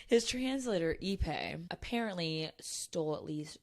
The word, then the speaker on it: Ippei: So, the scandal is that, so his translator's name, I don't know how to pronounce it. We can go with initials. Like, Ippei. It's Ippei, sorry.